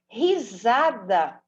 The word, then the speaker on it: Risada: Risada se escreve com S. Um S no meio de duas vogais tem som de Z.